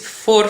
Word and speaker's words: voor: next line, which is voor vorst, voor vrijheid en voor recht, which is for the royal family, for freedom and for the law. This is quite nice because for is the same as for.